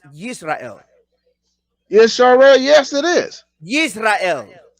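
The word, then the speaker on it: ישראל: Is the nation of Israel, is the name in Hebrew pronounced Yisrael?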